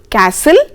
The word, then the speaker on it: castle: Now, T is not pronounced in these common words children. For example, castle, listen, often and whistle.